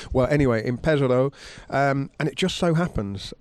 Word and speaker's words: Pesaro: Now, by coincidence, your dad pointed out that the Giro will finish in Pesaro on Saturday night. Pesaro, sorry. The superstition doesn't work if you pronounce it wrong.